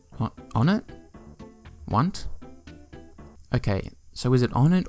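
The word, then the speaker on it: Onett: Because everyone calls it Onnit, but the next three towns in the game are Tucson, Threed, and Foreside. So if Onnit begins this number-based naming scheme, shouldn't it actually be pronounced Want? I think that's right. No, I'm definitely right.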